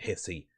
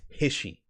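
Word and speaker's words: HISHE: H they they they they say it's his he I'm not pronouncing it hissy. It's Hishi.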